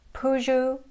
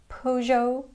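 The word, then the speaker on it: Peugeot: And this sound is the same or very close to the American double O sound as in the word book.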